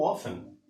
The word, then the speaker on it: often: Observe que la T no se pronuncia, se dice how often.